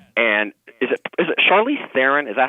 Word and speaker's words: Charlize Theron: um bombshell yes and is it is it charlize theron is that how her name is pronounced yes she looked just like megan kelly